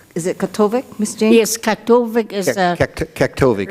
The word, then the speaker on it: Kaktovik: Yes, Katovik is Kaktovik, right at the border of Tianutu.